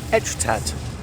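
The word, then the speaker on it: Étretat: that I don't know don't pronounce the tea at the end well let's go and find out what it is so we've come out to etrat the Village of etrat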